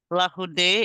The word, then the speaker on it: Larroudé: Larroudé, this is how you pronounce it, Elisa? Larroudé is how I've been taught to pronounce it, but Okay.